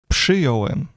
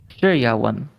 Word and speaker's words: przyjąłem: It should be przyjąłem because there is RZ is pronounced as ż. But after P, it would be very hard to say.